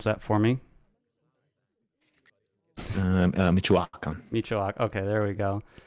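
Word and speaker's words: Michoacán: So aging up with pronounce that for me. Michoacan.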